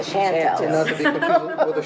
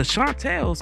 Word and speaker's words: Chantel: we were the Shantel nobody pronounced it correctly they flattened the A and made us the Shantel shant the group's main